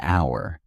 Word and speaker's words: hour: For example, an hour because the h is silent and it starts with a vowel sound.